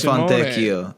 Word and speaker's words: Fontecchio: Is it pronounced Simone Fontecchio or Simone Fontecchio? Fontecchio. Yes. He's Italian, correct? He is Italian, yeah.